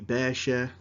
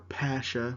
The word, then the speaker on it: Pasha: that was Muhammad Ali Basha or Pasha with a a b in Arabic and a p in Turkish right but I like to call him Muhammad Ali Basha because I used to live in Egypt and that's what comes natural but Muhammad Ali Basha